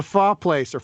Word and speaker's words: pho: Someone should really open a restaurant called Phi Phi Pho Phum. I'm sure they have. I hope so. Apparently it's pronounced pho, but you always see it punned with pho because that's how everyone says it.